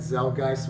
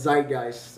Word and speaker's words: Zeitgeist: beginning God is dead zel gist which is the my favorite one my favorite one I think I pronounced it wrong let me see yeah it's Zeitgeist I think Z please correct